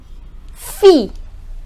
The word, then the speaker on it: fille: So, whenever ILL in French comes together, then double L does not have any sound. So basically, the pronunciation of ILL in French is E, or more specifically, we can say ear. So generally, we pronounce it as E. Okay, now these are few examples.